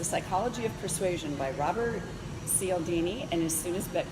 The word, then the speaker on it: Cialdini: I think it's Cialdini.